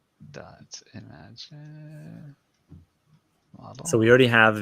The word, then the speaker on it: Imagen: I I think I like I'm fairly certain it's imagine. Yes. Uh, but I've been saying immigen for far too long and I apologize.